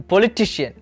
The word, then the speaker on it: politician: Then we have the politician, the politician, the politician. Here the stress will fall on the third syllable.